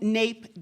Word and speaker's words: NAEP: course abbreviated as NAEP which we decided to pronounce his name so I will be your MC for what we are calling nape day and we have both